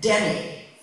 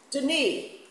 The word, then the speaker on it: Denis: Good, smart, respectable people who genuinely can't hear the difference between Denis, and Denny. From Nancy. Denis, the ankle, the elbow. Denis.